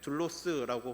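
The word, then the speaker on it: δοῦλος: 헬라어로 종은 둘로스라고 발음을 하는데 바울은 본문에서이 단어를 반복적으로 사용을 하면서 인간에게는 중립 지대가 없다라고 지금 말을 하고 있습니다.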